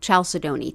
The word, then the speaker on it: chalcedony: Blue chalcedony, and chalcedony really means, and you might pronounce it chalcedony too.